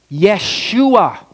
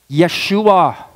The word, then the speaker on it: Yeshua: is that Joshua okay you know the Hebrew pronunciation for the word for the name Joshua Yeshua Yeshua Joshua Yeshua the Hebrew name for Joshua is